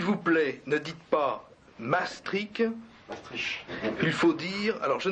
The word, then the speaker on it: Maastricht: Vous allez avoir l'exacte prononciation, mais de Maastricht, tel qu'on dit Maastricht à Maastricht, parce que au nord des Pays-Bas, la prononciation est beaucoup plus gutturale.